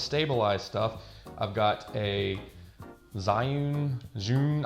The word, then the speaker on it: Zhiyun: stuff i've got a zhiyun june i don't know people pronounce it differently i say zyun but it's the weeble